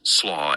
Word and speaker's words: SLA: SLOW is pronounced SLOW as in coal.